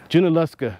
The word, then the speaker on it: Junaluska: I was telling I don't know how to pronounce it now you let me know junaluska you know much about the history here he